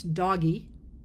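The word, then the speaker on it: DOGE: The same way I would argue that the Department of Government Efficiency, which I pronounce doggy, is a real thing.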